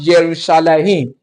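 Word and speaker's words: ירושלים: Don't forget that Jerusalem is pronounced Yerushalayim, Yerushalayim, Yerushalayim.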